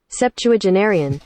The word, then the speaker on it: septuagenarian: How would the BBC say it? They would say it like this. Septuagenarian.